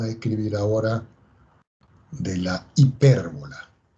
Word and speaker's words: hipérbola: Vamos a quitar esa parábola y vamos a escribir ahora de la hipérbola. Hipérbola, ¿ok? Acento en la E.